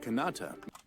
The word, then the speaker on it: Kanata: Look, it's katana, but it's kanata. I'll put the words on the screen too. Kanata. Anyway, you change the pronunciation, the spelling just a little bit.